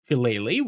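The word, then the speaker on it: Shillelagh: Halele, which yes is how it's pronounced, is druid's best damage option, giving you an extremely powerful melee attack.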